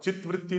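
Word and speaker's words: चित्तवृत्ति: निरोधा, योगश्चित्त वृत्ति निरोधा, योगश्चित्त वृत्ति निरोधा, चित्त वृत्ति नहीं चित्ता वृत्ति, ता का अ बोलो, उसमें थोड़ा भी संकोच है।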